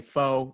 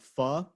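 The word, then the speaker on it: phở: I know people say pho. I feel like the actual pronunciation is probably like pho, right? Yeah, it's pho, but I also like saying pho too.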